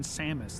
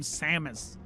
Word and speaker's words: Samus: just whenever I hear the name Samos, that's kind of the image it evokes for me. Samus is uh is a lot more transatlantic and uh I don't know. It just has a more musical sound to it.